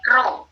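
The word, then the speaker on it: rho: dilihat di, di handphone, itu huruf P miring, simbol statistik itu. Jadi P-nya tidak lurus, tapi miring, dibacanya row. Jadi H0 ya, titik 2 row sama dengan 0.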